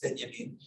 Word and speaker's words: Benjamin: It's spelled Benjamin, but it's pronounced Benjamin.